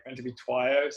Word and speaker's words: Twiyo: It's like meant to be Twyo.